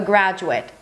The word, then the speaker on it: graduate: 'graduate' or 'graduate' Both the noun and the verb are spelled the same but pronounced differently. Let's start with a noun let's start with a noun A 'graduate' For example, a high school graduate.